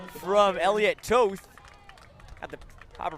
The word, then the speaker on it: Toth: Here's a carry there from Elliot Toth. Got the proper pronunciation there from the PA announcer.